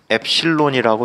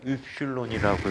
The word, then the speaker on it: 엡실론: 영어로 쓸 때는 엡실론이라고 쓰는데 읽을 때는 입실론이라고 읽어. 그래서 입실론이 그리스 문자야.